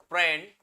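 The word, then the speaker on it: Prandtl: प्रेंडल, प्रेंडल, टी एस के बीच में है तो टी साइलेंट है इसमें, ठीक है, प्रेंडल्ट बोलते हैं उसको, ठीक है, प्रेंडल, टी साइलेंट है।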